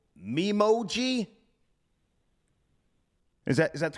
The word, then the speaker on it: Memoji: familiar with emojis, but there's something also called mimoji. Is that the correct pronunciation? Yeah. Do you know? Is it Memoji or Memoji? Do you know? I think it's emoji. No. Emoji. No. An emoji. It's Memoji.